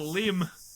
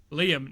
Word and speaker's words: Liam: friend called Liam and my mom always pronounced his name Lim and I it does my head and it's like, "Bro, you're missing you're missing other leaders in there, mate. What's going on?" Liam Nim lim.